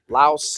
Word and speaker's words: Laos: Yeah, you don't see that outside of Thailand or maybe Laos. Yeah. Wow, they don't pronounce it's the very L's high.